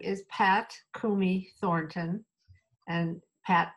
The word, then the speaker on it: Coomey: my name is Pat Kumi Thornton and pat p Kumi is co o m y and Thornton is t